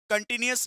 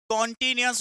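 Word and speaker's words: continuous: Number one कौन सा था, लिखिएगा number one simple, number two लिखिएगा, कंटिन्यूअस नहीं बोलना, कुछ लोग कंटिन्यूअस बोलते हैं, कॉन्टिन्यूअस होता है, ठीक है, तो दूसरा वाला क्या होगा, कॉन्टिन्यूअस।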